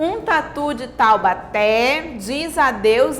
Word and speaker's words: Taubaté: palavras um som aberto taubaté não é tal bater é taubaté o acento agudo traz